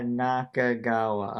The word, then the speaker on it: Nakagawa: Are you gonna pronounce his name right? That's Nakagawa. Nakagawa.